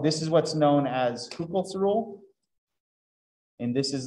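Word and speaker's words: Hückel: The umlaut means that you say it like it's two of those letters in a row or something like that. So it's not Huckel's rule, it's Kupel's rule.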